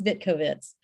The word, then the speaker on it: Vitkovits: Last name is Vitkovits. Okay, Vitkovits.